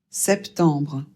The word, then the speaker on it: septembre: Donc on prononce août, septembre. Ici, le premier e doit être prononcé e. On prononce bien le p et le t.